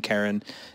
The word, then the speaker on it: Karen: I guess, English-speaking countries, Karen's a pretty common girl's name, but not for Yes, men. but you have to say Karen. Normally, it's the accent on the second part of the name, so that's it.